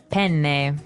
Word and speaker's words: penne: All right, so how do you pronounce, we said penne in English, in American English, but in proper Italian it would be? Penne. Penne. So you double pronounce the consonant.